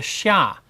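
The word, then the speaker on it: Xia: chinese history which is called the shah uh that's spelled x i a in the in the modern uh western romanization system the pinyin system of of of spelling chinese words the shah the shah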